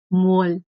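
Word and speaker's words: 뭘: Y quedaría mol. Mol. Mo más rul. Este rul es la partícula de objeto, ¿verdad? Mo más rul queda mol. Se pronuncia como mol.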